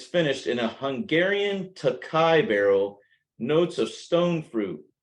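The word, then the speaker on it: Tokaji: it's a c-o-k-a-g-a-i and I think I pronounced it takaji forever but I think they actually pronounce it takai um but this is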